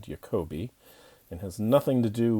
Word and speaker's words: Jacobi: Webb in this video we're going to be talking about jacobians although probably it should be pronounced jacobians because it's named after a German mathematician named Yoko B and has nothing to